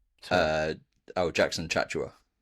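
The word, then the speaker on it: Tchatchoua: They've also signed, how do you pronounce the Bernie's name? Uh, oh, Jackson Chatua. Chhatua.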